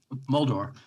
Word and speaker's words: Moldauer: It's a great album, and also featured on that album is Jeff Moldauer. Is that how you pronounce Jeff's last name? Moldor. Jeff Moldor, and he was another Boston folk singer that you became friendly with.